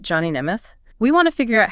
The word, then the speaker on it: Nemeth: And that's pronounced Neimoth, right? That's right. Johnny Nemoth.